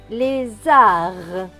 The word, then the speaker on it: lézard: Le D à la fin est écrit en bleu, donc il ne se prononce pas. Donc ce mot va se lire les arts. Lézard.